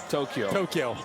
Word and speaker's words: Tokyo: Tokyo. Yeah, we have too many syllables. I learned it's two syllables from our Japanese interpreter, Steven Nelson.